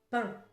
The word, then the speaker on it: pain: P non pain. Le son sort par le nez.